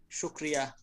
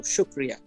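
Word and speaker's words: شکریہ: brother how do you how do you say thank you in Urdu shukriya shukriya so it's similar to shukran yeah Urdu is the Pakistani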